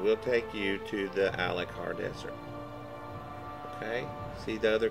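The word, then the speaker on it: Alik'r: In Stormhaven, there is a boatswain that goes to Alucard Desert. I looked this up how you pronounce it. Alucard.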